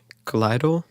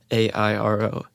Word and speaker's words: Clairo: Her name is Kaleido, I think is how you pronounce it, but it's Clairo.